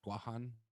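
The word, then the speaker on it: Guåhan: from the island of guahan which is the correct pronunciation of guam they're telling me to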